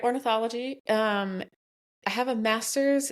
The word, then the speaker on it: ornithology: Did you like get uh a special degree to go into orthology? Did I say that right? Yep. You said it right. Ornithology.